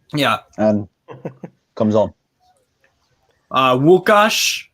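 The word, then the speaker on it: Łukasz: and comes on uh wukash that's how you say it in polish uh nufc hawaii the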